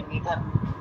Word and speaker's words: read: बल्कि रीडेड नहीं, रेड ही आता है। जब आप प्रोनाउंस करेंगे तो रेड रेड, रीड रेड, ऐसा।